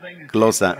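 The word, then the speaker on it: Xhosa: Y si usted solo pronuncia closa, no está correcto. Usted tiene que dar un chasquido. Closa, así, closa.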